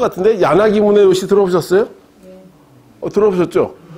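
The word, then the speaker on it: 宗悦: 야나기 소엣지라고. 책에 그렇게 돼 있어요. 근데 소엣지가 아니라 본인들이 문에요시로 읽어달라고 해서 문에요시로 읽었죠.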